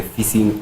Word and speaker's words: phishing: But the pronunciation, the spelling is PHISH. So Oh. you say the same thing as your normal fishing in the but ocean. now with a It's a P. PH at the start.